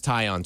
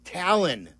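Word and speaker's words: Taillon: I think Jed mispronounced it. Talon. Did he say Talion or Talon? Uh, tail. I I don't know. He used the L though. It caught my It caught my attention. No, but if you look at all the pronunciation guides have it as tyion.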